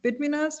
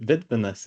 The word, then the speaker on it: Vidminas: So how do I say your name Vidminas? How do you say? You got it. Vidminas is original, although I usually go by Vid.